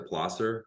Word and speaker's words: Placer: also I will say it's Placer solution I appreciate the pler um which is the the original pronunciation but I had enough people say Placer that I'm just going to roll with it so Placer Solutions and